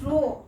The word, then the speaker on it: rho: Rank means rank, R means rank correlation and S means Spearman, or write as P which is pronounced as rho, RHO, and the formula of Spearman rank difference